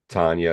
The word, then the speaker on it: Tana: Tanya, it's spelled Tana, and her last name is Lea.